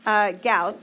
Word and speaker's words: Gauss: Gauss, that's how you pronounce his name, was actually a very famous mathematician, and he was a very bright child.